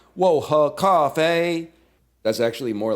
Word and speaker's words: 我喝咖啡: Say huh, not huh. Huh? 我喝咖啡.